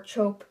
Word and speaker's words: Chope: He's another Anaconda warrior, and his name is Chope. Well, or I say Chop, but his name is spelled with an E at the end. It's Chope. So I'm not sure if it's Chope or Chop.